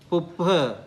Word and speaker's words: puppha: So p is like pen, b is like boy. So puppha, buddha, right?